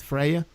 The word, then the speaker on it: Freya: Am I pronouncing it right, Freya?